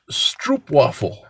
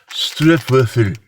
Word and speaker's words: stroopwafel: Now, that was a very Americanized way of saying it, but when I heard how it's pronounced, it's like stroopwafel. But it sounds French when I say it. It's not supposed to.